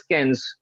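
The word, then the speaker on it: quinze: Don't worry, if you speak wrong, at least you will know the right pronunciation. Fine, no worries. So 15 is cans. All of you, Cans.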